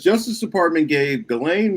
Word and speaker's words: Ghislaine: It says Justice Department gave Ghislaine Maxwell, or Gillen, as her brother pronounces it, Ghislaine Maxwell, a platform to rewrite history.